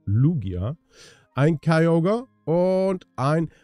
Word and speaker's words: Lugia: habe jetzt auch gelernt ich habe es immer falsch ausgesprochen ich habe immer Lugia gesagt aber die Aussprache oder die Betonung liegt mir auf dem U also Lugia ein Kai Yoga und